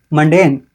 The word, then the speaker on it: mundane: Mundane. Mundane. Den, not Dian.